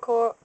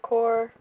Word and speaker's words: coir: I maybe might buy a brick coconut coir, or coconut core, but however you want to pronounce it.